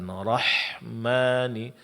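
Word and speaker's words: الرحمن: Kemudian suara dilepaskan rahmani rahmani. Namun dia ditipiskan. Jangan terpengaruh oleh ketebalan huruf ro sebelumnya ya.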